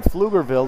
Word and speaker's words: Pflugerville: going to face either pflugerville hendrickson or beaumont united you know in flugerville their football field is called the the field and it's spelled p-f-i-e-l-d kind of like flugerville is spilled and i guess you're